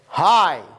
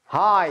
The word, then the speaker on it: high: high الجي اتش لا ينطق, high high مرتفع.